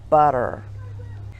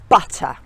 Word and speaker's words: butter: from American English because they would tend to glide over the T and make it more into a D so butter would become borrower so if you want to sound British how do you pronounce it butter and here's some